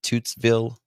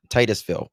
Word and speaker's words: Titusville: She is 18year-old high school senior from how do you pronounce it? Is it Tootszville? I always mess it up. Florida. Titusville.